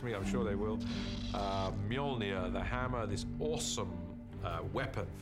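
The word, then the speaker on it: Mjölnir: is to work out how to pronounce it which is Mjolnir in our movie at the moment till somebody corrects me I'm sure they will Mjolnir the hammer this awesome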